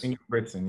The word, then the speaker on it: Ingebrigtsen: And then Jacob, and I always say it wrong. Ingebrigtsen, is that right? Yes, Ingebrigtsen.